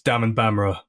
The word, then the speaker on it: Daman Bamrah: to say my name so I say it's Dam and bamra like samon camera so I call my